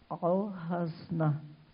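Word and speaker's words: Al-Khazneh: Eu até tive que perguntar à Adriana como é que se pronuncia essa palavra. E ela falou que é Al-Hasna, o tesouro, primeiro templo da cidade arqueológica de Petra, na Jordânia.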